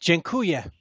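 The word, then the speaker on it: dziękuję: how do you say thank you in Polish jenya jenya well jenya very much and oh by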